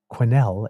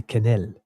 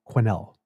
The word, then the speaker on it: Quesnel: Quenelle is a hard Q with a W attached. So Quenelle instead. Because as a bon franco-ontarien, I'd say Quenelle. But Quenelle. There you go.